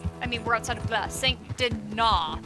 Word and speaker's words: Saint Denis: I mean, we're outside of Saint Denis. They pronounced it French fully. Spelled Dennis.